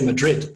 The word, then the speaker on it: Madrid: a thathe in fact even when they say Madrid they say it like Madrid and it's like this this crazy kind of th sound Mari and this is